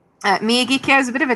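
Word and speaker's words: Miyagikyo: So kyo in Japanese means valley.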